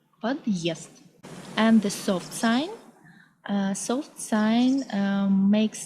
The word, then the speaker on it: подъезд: The heart sign indicates a slightly pause between syllables. For example, Russian word подъезд, подъезд.